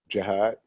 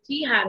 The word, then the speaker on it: Jihad: you say your name jihad thank you some people say jihad and i'm like that's not how he says it thanks so there now